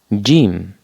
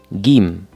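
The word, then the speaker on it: ج: Jim. Jim. You can also pronounce it like Gim.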